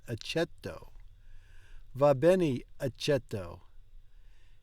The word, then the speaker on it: accetto: Va bene, accento. There's no N in that. Accetto.